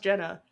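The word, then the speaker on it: Gena: Or how you would think Gina is spelled, but it's pronounced Jenna.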